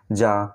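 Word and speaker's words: jar: এখানে শেষে আর এর উচ্চারণ হয় না, যা। তো এখানে দেখো এর সাউন্ড আমরা কিসের মতো পাচ্ছি? আর মতো, যার কারণে রিডিং হবে যা।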